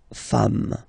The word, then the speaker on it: femmes: and then you just add this S at the end, and as we said, you don't pronounce it, so you get des femmes, okay?